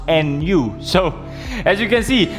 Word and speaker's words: Nu: actually his new gundam not new gundam is pronounced nu so as you can